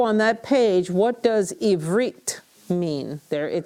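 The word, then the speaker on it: עִבְרִית: Remember, the schwa brings a syllable to a close, so we have a harik, veit, close the syllable. So Eve, Read. and reet, ivrit, ivrit, ivrit.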